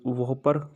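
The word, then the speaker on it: WOPR: वर operation plant response जिसका उच्चारण उपचार वल वोपर कहा जाता है के रूप में जाना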